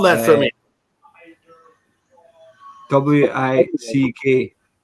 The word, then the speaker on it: Wick: W-I-C-K. It's W-I-C-K. It's Wick, like candle wick.